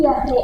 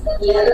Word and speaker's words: Jahre: Ich bin 17 Jahre alt. Ich bin 17 Jahre alt. Ya. jangan Yahre ya, Yahre, J-nya itu dibaca Y, Yahreat.